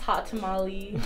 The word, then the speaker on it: HAWTTAMALE: That's pronounced hot tamale because I keep it spicy.